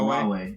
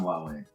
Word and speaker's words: Huawei: Yeah, no, it's pronounced Huawei. It looks Alright. like Huawei or something like that. It looks weird, but it's pronounced Huawei.